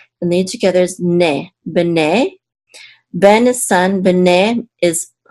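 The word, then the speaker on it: בני: Okay, and the accent is on the second syllable because this is a trope mark right here.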